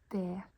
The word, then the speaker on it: det: Det. It's written det, but we don't pronounce the T.